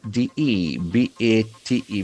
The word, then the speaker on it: debate: D E B A T E. We can feel that a sound here. Debate. Debate. Debate. The accent falls on the second serious discussion of a subject.